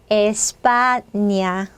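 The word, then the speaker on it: España: 않고요 자 스페인이라는 나라 이름을 스페인어로 하면 뭐예요 에스파니아 에스파니아 저는 이제 어렸을 때 학교 때 왜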